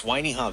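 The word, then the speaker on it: Wainiha: I'm not really referring to the Y, but this is how you spell it. W A I N I H A. Okay, that's Wiiha Valley on Kauaii.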